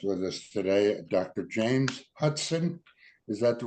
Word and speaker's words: Hutson: James Hudson. Is that the right way to pronounce it with the T? That is correct. I get Hudson a lot for the Hudson River, but that's right. It's a T.